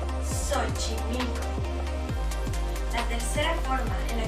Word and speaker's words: Xochimilco: En este caso, la X aparece al inicio de palabra, muy cerca de la Ch, por lo que la X se suaviza y se pronuncia como S, Xochimilco.